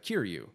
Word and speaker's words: Kiryu: And I mean, okay, you were talking about Kiryu.